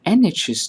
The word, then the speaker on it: NHS: On the other hand, when we say an NHS doctor, the N of NHS is pronounced as EN.